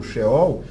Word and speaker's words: Sheol: listas a tradução uma expressão correta Como se pronuncia corretamente e esse é o sheol significa o mundo dos mortos ou Sepultura lá